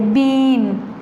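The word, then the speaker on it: bean: So next is बीन, ये देखें इसमें ई है और ये लंबी आवाज़ देता है और जो ए है ये साइलेंट है, इसे हम कैसे पढ़ते हैं, ई साउंड, उसमें ए साउंड आती थी ई की, इसमें ई, पूरा ई, इसे बीन।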